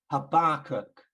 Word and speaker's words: Habakkuk: sure but I think I've grew up with like the emphasis on the first syllable I think I learned from some brothers when I moved to the West Midlands habakkuk on the second syllable um and the Jews apparently would say none of that and they'd say something like Havoc with a verb instead of a bird an emphasis on the last syllable so that's frivolous um